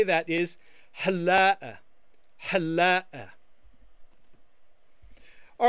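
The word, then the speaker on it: حلاق: A barber in the masculine singular form would be halla, halla, halla. Notice that the Q is not pronounced.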